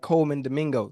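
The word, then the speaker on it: Colman Domingo: you in those I'm trying to be like Coleman Domingo did I say his name right yeah yeah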